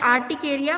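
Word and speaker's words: urticaria: हाँ, इट is pronounced as आर्टिकेरिया बट इट is written as अर्टिकेरिया.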